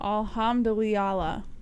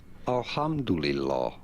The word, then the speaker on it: alhamdulillah: people how you say that Al alhamandala no alhamdulillah uh-huh no there's no I in there yes